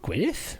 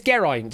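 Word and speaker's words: Geraint: It is No, it's not Gwinith. What are you on about? It's not Gwinith. They removed him. Yeah, it's Gerite.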